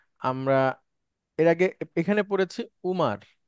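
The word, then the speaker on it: عمر: এর আগে এখানে পড়েছি ওমার মানে ওমর যেটাকে আমরা ওমর বলি সেটাই আরবিতে ওমারু সঠিক আরবি যদি সঠিক উচ্চারণ যদি বলেন এখন একটা নাম আছে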